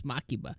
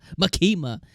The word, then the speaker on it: Makima: me in the comments makima her name is makiba makima uh I'm so sorry I'm so sorry erase